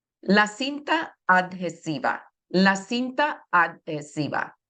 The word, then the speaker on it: adhesiva: La cinta adhesiva. Remember, the H is silent there.